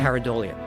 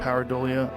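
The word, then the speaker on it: pareidolia: Paridleia. Paridolia.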